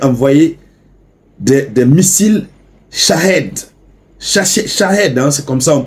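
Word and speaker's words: Shahed: ça l'Iran avait envoyé des missiles Chah ch Chahed he c'est comme ça on prononce à la Russie comme si tout cela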